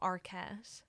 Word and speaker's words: Arket: Okay, because the alternate gift idea was she likes these blankets from Arquette. What's an Arquette. like Patricia Arquette. But it's spelled ARKET. Okay, so not. But so not at all like that.